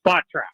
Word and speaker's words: Spotrac: And it's Spotrac.